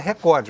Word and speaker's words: recorde: A palavra certa é recorde, mas 10 milhões é